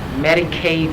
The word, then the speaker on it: Medicaid: that fraud going on Medicaid rhymes with lemonade it's real easy to